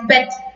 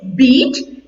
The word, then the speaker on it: beat: tense is also beat people commonly make a mistake as bet he bet him yes but that is wrong it is beat and the third form